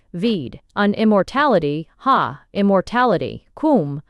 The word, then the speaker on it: Koom: Kum pronounced like the Welsh swib denotes something of hollowess.